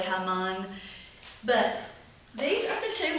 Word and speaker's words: Haman: Well, the bad guy in this story, which we usually pronounce it as Haman. I think there's a different pronunciation, probably Haman.